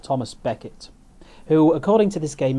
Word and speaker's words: Thomas Becket: And it was Thomas Becket rather than Thomas a Becket. There's a bit of a medievalism going on there. I think a mispronunciation, probably brought on by the Victorians.